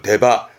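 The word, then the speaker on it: 出っ歯: 출지 그러니까 나온 거잖아요 우리가 뻐드렁이라 그러는데 거를 데바 데바다는 보통 데바 데바로 쓰는 편입니다 이번엔 위에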